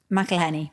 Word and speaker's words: McElhenney: It's a docuseries that follows the real-life journey of Hollywood actors Ryan Reynolds and Rob, how do you pronounce this? McElhenney.